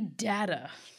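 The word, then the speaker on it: Dagda: So we're starting with the Dada, which is, we looked it up. We did. Yes, that's how you pronounce it.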